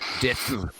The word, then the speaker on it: DITRH: Everybody says his name wrong, and I'm perfectly fine with it because it's actually DITRH. It's Dith. It stands for deep in the rabbit hole.